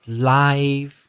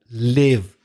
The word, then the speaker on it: live: you or your parents live instead of live. Yeah. It's tricky because that word L-I-V-E can be pronounced live or it can be pronounced live. Depending on if it's an adjective or a verb.